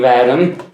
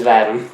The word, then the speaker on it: V'adam: wct Spartan collection napping vom is it is it vom or vam it's vam vam okay or at least that's how I pronounce Arbiter Thal vam oh